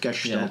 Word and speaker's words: Gestalt: Gestalt, that's how you pronounce it, Gestalt.